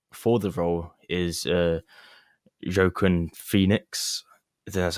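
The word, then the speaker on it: Joaquin Phoenix: the directors favorite for the role is you jokin Phoenix that's how you say his name the guy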